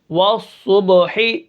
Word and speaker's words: والصبح: کس طرح پڑھیں گے، واو صاد زبر والصاد، با پیش صبح، والصبح، حا زیر حی، والصبح، وقفا والصبح، ٹھیک ہے۔ اب یہاں پر